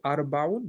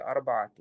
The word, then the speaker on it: أربعة: You say أربعون? No, you say أربعة.